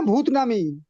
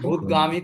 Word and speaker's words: ভূতানামি: বলছি ওটা ভূতানামি না ভূতনামি? ভূতানামি, ভূতানামি বা ভূতানাম। ওটা ভূতগামী তো নয়, ভূতানামি।